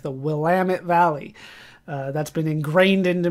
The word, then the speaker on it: Willamette: But now that I actually live at the end of the Oregon Trail, I know how to pronounce things a little bit better, like the Willamette Valley.